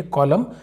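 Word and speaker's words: column: पर एम के बाद एन है तो इसको हम साउंड नहीं करेंगे इसे हम पढ़ेंगे कॉलम फिर भी यहां पर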